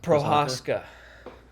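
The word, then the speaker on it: Procházka: Jiri How do you pronounce his last name? Prochazka? Prochazka. Prochazka.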